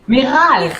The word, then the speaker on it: Miral: I told her my name is not with an R, but she said, yeah, this is how I pronounce your name. Miral. Miral. That's more Hispanic now.